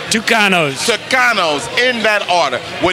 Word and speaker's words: Tucanos: got the spelling right t u c a n o s pronounce it tanos tanos in that order